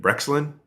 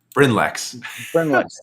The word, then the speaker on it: Brynlex: Brexlin? Brynlex. Get the syllables mixed up.